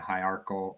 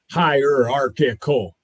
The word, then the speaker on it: hierarchical: Um there, you know, I I I don't and I think most people don't love top down hierarchal high, how do you say that word? Hierarchical hierarchical.